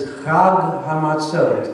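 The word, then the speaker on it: חג המצות: And unleavened bread is Chag HaMatzot. Everyone? Chag HaMatzot. That's Chag. Not Hog.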